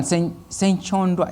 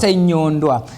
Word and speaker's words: Senyondwa: Senchondwa. Is that the right pronunciation? Senyondwa.